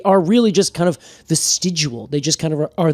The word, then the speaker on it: vestigial: Now I should note, just to be very clear, it's vestigial, not something that you said. Vestigial. Yes. I don't want anyone to add us and say, well, actually, you pronounced it wrong. Vestibule.